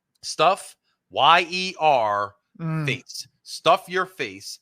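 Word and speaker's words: Stuff Yer Face: to this place called Stuff Your Face, and it's spelled Stuff Y-E-R face. Stuff Your Face.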